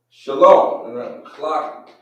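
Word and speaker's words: שלום: But do you know how to actually say that in the Hebrew? And better yet, write it. So it would be enunciated. Shalom.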